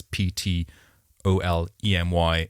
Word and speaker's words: Ptolemy: Now, before we get started, Ptolemy is spelt with a silent P at the start of the name. Mm-hmm. So if you want to Google and do some research afterwards, it's Ptolemy, and then 3 spelt just 3.